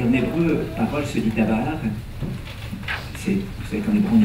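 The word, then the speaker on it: דָּבָר: Dabar. Si on prononce déber, c'est la peste en hébreu.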